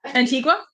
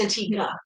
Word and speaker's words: Antigua: Antigua. I think it's pronounced Antigga.